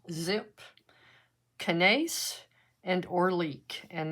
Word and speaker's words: XYP: to be doing onomato hybrid xyp which is pronounced zip canes and or leak and they're all by